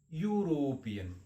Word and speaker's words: European: it as a European why because European word has a pronunciation of the euro / kadhai deleting what